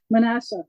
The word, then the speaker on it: Manasseh: I know I said it correctly didn't I manasa right so um so that was one name